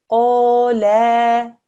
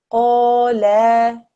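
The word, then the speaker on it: قالا: When we read this, the correct way of reading it would be qala, qala.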